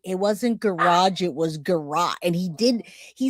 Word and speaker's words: garrotte: That's the first time I've heard him pronounce garrotte correctly with the O sound all these decades, a hundred times he's pronounced it deliberately a sound.